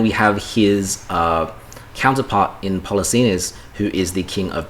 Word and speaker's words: Polixenes: And because of this, am I pronouncing it right? Polixenes?